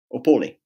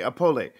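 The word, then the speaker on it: Opole: pronounce the city name opoli apollo okay if you pronounce the e at the end or not okay apolly well very interesting so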